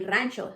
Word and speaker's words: Rancho: what does the word Rancho mean it means and it sounds like the word Ranch but not the salad dressing it means a feel